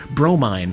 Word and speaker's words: Bromine: and the Piggy Runt, Bromine, pronounced Bro, Mine, Cat, Mother of Pearl,